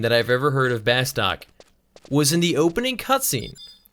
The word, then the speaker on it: Bastok: I've ever heard of Bastok was in the opening cutscene with the like nice British guy who's like, the Republic of Bastuk. And I was like, wait, Bastuk? It's definitely Bastok.